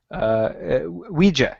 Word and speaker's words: Ouija: Ouija.